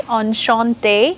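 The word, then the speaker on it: enchantée: so I will say on Chante the pronunciation will be the same but in writing I'm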